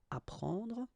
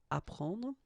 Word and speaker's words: apprendre: The first one, ap, so ap, you will get apprendre, apprendre, okay, you don't pronounce the double p, apprendre, so here is what it means.